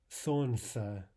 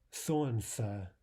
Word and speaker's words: солнце: цар, полотенце, полотенце, страница, страница, солнце, солнце. The L there is not normally pronounced.